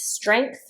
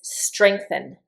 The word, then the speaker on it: strength: The noun is strength. The verb is strengthen. Strengthen. And there are actually two pronunciations for the word strength or strengthen. When I pronounce it, I always say this G sound strength.